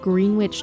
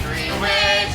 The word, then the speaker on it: Greenwich: We took you back to the small town of Greenwich, New York, where he was allegedly last seen. It's Greenwich, not Greenwich, say it phonetically.